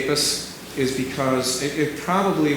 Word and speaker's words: Apess: certified his wedding and the preacher who was there spelled his name apis now the preacher didn't know what how he spelled it he just heard it phonetically and wrote it down is my guest and so that suggests to me that he was not using Apes that he must have said apis and so I think that's